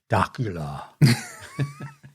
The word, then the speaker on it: Dacula: I think it's Dacula. Like uh Dracula without the R?